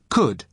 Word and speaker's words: could: to the pronunciation could could you spell it cou LD but the letter L is silent could now listen to the